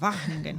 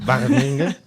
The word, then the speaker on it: Wageningen: Sí, bueno, y la pronunciación es a Wageningen. Wageningen.